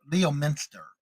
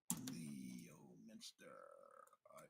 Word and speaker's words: Leominster: Leominster is how I guess they pronounce it here.